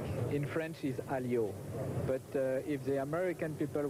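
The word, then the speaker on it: Alliot: Diane Warwick it's Warwick without without you don't pronounce the second W in French is alio but if the American people want to say Elliot it's no problem for me first of all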